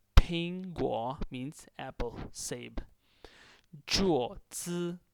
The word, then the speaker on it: 桌子: 桌子, this is a flat tone on O on the vowel, so you have to pronounce it like this.